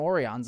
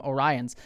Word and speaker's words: Orion: just some people just they didn't have a pronunciation guide and so they just called them orans and then they just went with that for the rest of the episode um instead of calling them Orion so the the fact